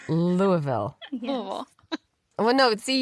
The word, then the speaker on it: Louisville: It's Louisville, right? Louisville, yeah. As long as you don't say the S, it is correct. Louisville.